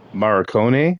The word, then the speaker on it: Morricone: His name is Ennio Morricone, I think you Yeah, pronounced Marconi.